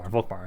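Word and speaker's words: Volkmar: I can trade with you guys now sorry Volcan volkbar I said his name wrong earlier um I can't get much more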